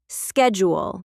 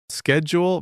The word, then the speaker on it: schedule: The c h makes a sh sound in British English. Schedule. Schedule versus schedule. Same word, completely different sound.